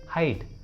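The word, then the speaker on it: hide: हाइड, हाइड, इसमें भी last में ई है तो ई को उच्चारण नहीं करेंगे, इसलिए सही उच्चारण होगा हाइड, हाइड।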